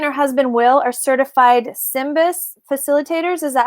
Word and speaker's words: SYMBIS: Um, Jodi and her husband Will are certified SYMBIS facilitators.